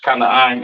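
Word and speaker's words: כְּנַעַן: Or Canaan in the Hebrew, excuse me, Canaan in the English, Kanaan in the Hebrew, your so-called South Africans today, all right?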